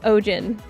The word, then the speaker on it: Eugen: Uh Eugene is pronounced o Ojen.